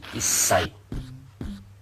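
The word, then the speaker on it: 一歳: 3 itu beda kan, intinya isai, ada double s di situ.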